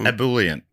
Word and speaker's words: ebullient: but ebullient. I'm going to say that's if it's not if that's not how it was pronounced, that's how it is pronounced. That's how you say it.